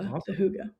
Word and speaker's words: hygge: Like, yeah, there's this concept of, I think it's called hygge, pronounced as Hygge.